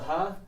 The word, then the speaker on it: ها: It takes the ha, but you just add a long alif to the end, right? And it is pronounced just ha.